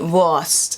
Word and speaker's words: Wurst: like the w is kind of like a v so voice it's like a soft v worst you see this word